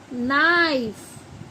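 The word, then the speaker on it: knife: है ऐसे ही के एन आई एफ ई नाइफ देखो क की वॉइस आ रही है नहीं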